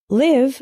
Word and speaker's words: live: is live and live live with the same i as in sit means to reside for